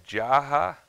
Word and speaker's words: Jaha: And it's Jaha.